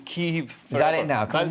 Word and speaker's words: Kyiv: And I'm calling it Kyiv because Kiev is the Russian pronunciation, so we should all go out and buy our chicken Kyivs in solidarity. So what's Kyiv then? Is Kyiv the British? Kyiv is how Ukrainians pronounce it.